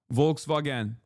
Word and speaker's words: Volkswagen: Volkswagen is how we say it in Turkish.